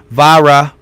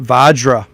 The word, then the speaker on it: Vajra: Vadra, like Spanish. But no, I Googled it on YouTubed it, and they called it Vajra with a J. So, I'm going to do the Vajra Chronicles, the prediction of World War III.